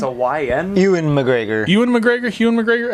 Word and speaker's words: Ewan McGregor: Long Way Up, they rode electrical motorcycles because Hugh McGregor wanted to. They planned this trip, but then at the like. Wait, are you saying Hugh McGregor or Ewan It's a YN. Ewan McGregor?